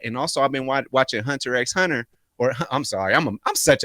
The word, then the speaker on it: Hunter x Hunter: it's not that's called hunter hunter black black people there you go the x is silent but i'm gonna keep